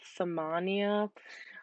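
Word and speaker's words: ثمانية: learned it is like a doorway like Narnia samanya I tried to associate anything I could to help these be a little easier to learn so that's just kind of how I remembered it is by samanya for Narnia a wardrobe door and it's an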